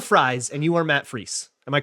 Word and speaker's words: Fries: and he did say fries. So it's fries. Okay. He's like French fry.